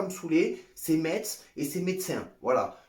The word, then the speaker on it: Metz: à me saouler, c'est Metz et c'est médecin. Voilà, moi je prononce le T, à Nice on prononce toutes les lettres, donc ça sera Metz et médecin.